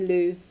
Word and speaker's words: Lou: You can call me Lou, like the toilet. It's the same pronunciation.